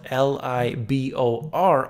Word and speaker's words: LIBOR: Although it is spelled L-I-B-O-R, I always like to spell it the proper way, and that is LIBOR.